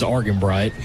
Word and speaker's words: Argenbright: I was going to say, I thought it was Argenbright. Yeah, hard G.